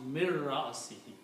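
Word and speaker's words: مِنْ رَأْسِهِ: And when you pronounce, you do not pronounce noon, you pronounce mir ra'asihi. Because ra changes the sound of noon, mir ra'asihi.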